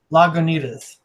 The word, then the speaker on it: Lagunitas: says say love Goonies cus so I'm drinking Lagunitas Lagunitas sounds pretty good was it a dark